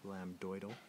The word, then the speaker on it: lambdoid: to find your lambid make sure that's spelled with an m b d lamb doal which is just going